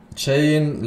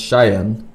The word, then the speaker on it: Cheyenne: ] chain lives in australia too but not native oh wait what how does that make sense how did they travel to australia then what it's pronounced cheyenne cheyenne all right hold up